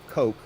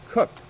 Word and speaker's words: Koch: We got BH says, I had a friend in school who was a Coke who pronounced it cooked.